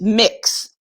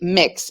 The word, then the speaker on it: Mx: do you pronounce mx i believe it's just mix just like you would kind of think instead of saying mx a b mix and for those of